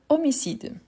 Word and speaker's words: homicide: Ensuite, on a homicide. H muet ou H aspiré. H muet ou aspiré. Voilà. Voilà, c'est un H muet. L'homicide.